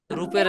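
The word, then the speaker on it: ر: এক আলিফ যে কেন টান হবে সেটা আমরা বুঝাই দিলাম, কারণ এখন আপনি বললে বুঝবেন না, যতক্ষণ না রুল পড়তেছেন, তো এটা পড়াবো পরে।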